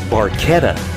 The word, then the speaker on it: Barchetta: The automobile, actually pronounced Barchetta, is a classic built-for-speed Italian sports car made by Ferrari, but could also be a Fiat or an Alfa Romeo.